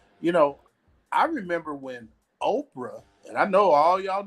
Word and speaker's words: Oprah: You know, I remember when Oprah, and I know all y'all know who Oprah is. I know you know. People couldn't even pronounce her name. People were calling her Okra because she was just a